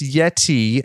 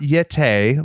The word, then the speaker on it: Yeti: It's actually pronounced Yeti and not Yete, like Tony Schiavone said.